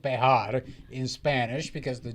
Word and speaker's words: Bexar: going on in the politics wait where where's Bear County ER by San Antonio it's called bear it's not bear in Spanish it's bear okay